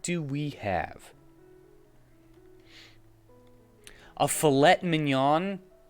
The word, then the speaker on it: mignon: we have a filet mignon mignon that's what is Mig known sorry I mispronounced it hmm some kind of